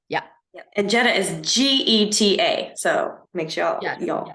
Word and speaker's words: Geta: It's pronounced like the car.